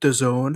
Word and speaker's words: DAZN: How do you pronounce it? DAZN.